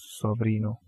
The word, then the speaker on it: sobrino: sorry so Rena and from there it is sobrino s o V R I n sobrino so